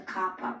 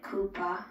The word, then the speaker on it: COPPA: Act so people notice a Coppa policy alright I've been pronouncing it Koopa on my show all the time I'm very sorry about